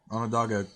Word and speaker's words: Onondaga: and oh n da ga on no doggone Onondaga County Sheriff's yes the Onondaga County Sheriff's Office